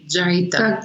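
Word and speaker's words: Jeita: Jaita, you said it right.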